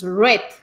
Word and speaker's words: read: En presente tú dices read, en pasado dices red, como el color rojo.